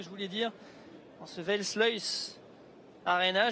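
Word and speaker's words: Versluys: En ce Welsluis Arena, je ne sais pas si je le prononce bien. Nicolas qui est à côté de moi qui rigole de mon accent. Le Welsluis Arena. J'oublie peut-être un R quelque part, en même temps c'est pas facile. R-S-L-U-Y. Pas évident de prononcer, mais allez, 3000 personnes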